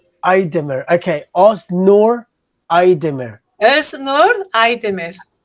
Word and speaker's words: Aydemir: My last name is Aydemir. Aydemir.